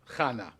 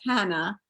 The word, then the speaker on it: Chana: He said, "Chana's with an H." I was like, "No, that's Hannah. This is Chana."